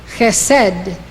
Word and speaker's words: Chesed: This is how they are pronounced. These 9 Sefirot emanate from Keter. Chokhmah, wisdom. Binah, understanding. Chesed, love.